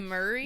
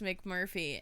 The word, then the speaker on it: McMurphy: McMurray? We don't want to get his name wrong. This is the main She guy. keeps calling him McMurray. They keep calling him he's McMurray. Like, my name is McMurphy.